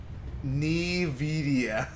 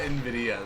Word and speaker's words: Nvidia: where's my heal oh I died Nidia okay it's not Nvidia then that that that that's